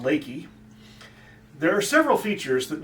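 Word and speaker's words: Leakey: a little town that looks like it should pronounce leaky but for some reason known only to texans it's called lakey there are several features that make this such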